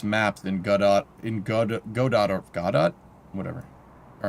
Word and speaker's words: Godot: Say it like it's French. Godot.